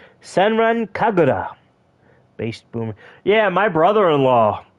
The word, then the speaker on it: Senran Kagura: wow you're as old as my brother-in-law Joey pronounced senren kagara senran kagura base boom yeah my brother-in-law uh the man